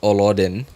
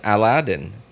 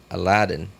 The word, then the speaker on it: Aladdin: Aladdin. Like the way Aladdin? Yeah, but I don't pronounce Aladdin as Olodin. I pronounce it as Aladdin. Ah, with an A, like apple. Aladdin.